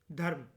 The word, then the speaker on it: धर्म: ये जान लो कि ये एक संस्कृत शब्द होता है धर्म और वह जो धम्मा होता है वह पाली और प्राकृत होता है ठीक है स्पेलिंग बेसिकली